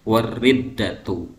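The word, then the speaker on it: الردة: Riddah itu setingkat atau selevel dengan ihma, dengan haid, dengan nifas, dengan inzal dan seterusnya, sehingga kita bacanya wariddatu ya, seperti itu.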